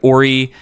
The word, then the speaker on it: Aury: We have Paul Perscheid, we have Aury, is actually how you say it. She's French. It's a whole thing.